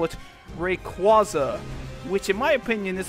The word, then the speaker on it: Rayquaza: really stupid, even though it makes sense since it's a combination of Ray and Quasar. As such, people who hate the pronunciation choose to call it Rayquaza, which in my opinion is a pronunciation that sounds stupid.